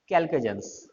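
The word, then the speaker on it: chalcogens: पढ़ना, CHAR, ठीक है, लेकिन प्रोनाउंस एज कैल्केजेंस, CHAL को GENS।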